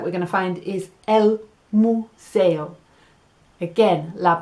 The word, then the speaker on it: museo: last thing that we're gonna find is el museo again la pronunciacion en inglés it's a "yoo" and en